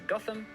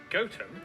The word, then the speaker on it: Gotham: toaster then a quick jaunt to gotham goatum followed by a stop